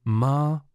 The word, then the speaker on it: Malasana: Malasana, pronounced ma-laz-oo-noo, is commonly called the Garland Pose or Full Squat Pose.